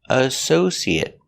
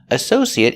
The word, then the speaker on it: associate: a verb associate it making that short sound at the end it associate associate is not a verb